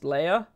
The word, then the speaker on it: Leia: Stop saying Leah, it's Leia.